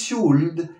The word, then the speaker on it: should: Must, should, la L de should no es should, es should, la L no se pronuncia.